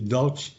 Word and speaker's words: Daudt: lado o Luiz Felipe dalke acho que a pronúncia do último nome é dauti mesmo né Felipe e ele tem